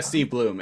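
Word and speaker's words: Steve Blum: Steve Bloom or Blum? Yeah, Steve Bloom.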